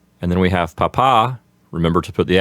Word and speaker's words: papa: And then we have papa. Remember to put the accent on the second syllable so you don't call your father a potato.